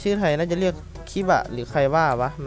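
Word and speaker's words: キバ: นี้ ก็ จะ เป็น ไควะ มัน อ่าน ว่า คิบะ แหละ ผม ก็ เรียก ว่า คิบะ น่ะ แหละ กระโดด คิบะ คิก ดู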